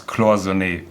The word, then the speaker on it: Cloisonné: Jamie, as a true Patek connoisseur, you have to learn how to pronounce Cloisonné, because that's the way it's being pronounced.